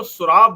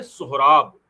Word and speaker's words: सोहराब: जिसमें उन्होंने लिखा कि कुछ लोग इसको सुराब लिख रहे हैं। एस यू आर ए बी लेकिन यह सुराब नाम नहीं है इसका। इसका नाम है सोहराब।